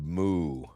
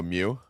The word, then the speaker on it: Mu: Today we will travel to the lost continent of Moo. Mu. It's by It's pronounced MW, by the way. Oh, Mew.